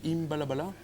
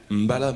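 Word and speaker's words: M'bala: Bon, monsieur, attendez, monsieur Dieudonné Imbalabala. Mbala, attention, Mbala. moi j'ai pas écorché le nom de ton pays, donc tu vas être gentil, tu vas être quand même assez correct. C'est Mbala, ça se prononce.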